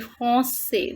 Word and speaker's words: français: was saying je suis français. The pronunciation of this word in feminine form is française. Elle est française. She is French. And in masculine, we pronounce it like français.